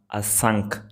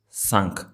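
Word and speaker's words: ਸੰਖ: I just remember actually it's not asank, it's sank. So, there no a sound at the beginning. It's just a sank. When we put a sound at the beginning it's asank.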